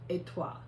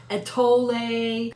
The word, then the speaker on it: étoile: way, it is pronounced étoile. Okay. Étoile, Étoile. okay. With the L almost being silent.